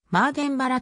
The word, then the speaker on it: Mardenborough: ついてもまあドンボローはイギリス英語ではマーデンバラと発音されるためヤンマーデン柄の日本語表記が本来の発音に一番近いヤンマーデンボローは